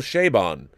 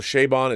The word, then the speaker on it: Chabon: First of all, I heard Michael Chabon pronounce it. It's Michael Chabon. So Michael Chabon is how it is pronounced.